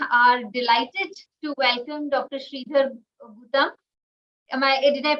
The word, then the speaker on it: Sridhar Gutam: Sridhar Gutam. Did I pronounce it right?